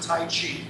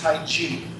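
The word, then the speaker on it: 太極: I know some of you pronounce it Tai Chi. It's actually pronounced Tai Chi. The word Chi is not in the name Tai Chi.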